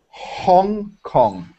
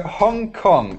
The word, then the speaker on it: Hong Kong: you find this difficult Hong like the H yeah for Italian I don't think it's so difficult Hong Hong you can do it that's okay okay so Hong Kong okay next thing Joseline